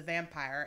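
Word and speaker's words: Vampyre: is actually called The Vampire, except it's spelled hotter because they use a Y instead of an I. Vampire, like pyre, like fire.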